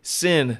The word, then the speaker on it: Cyn: I did say Sin to everyone listening because that is your name, correct? That is spelled C-Y-N, not the S-I-N.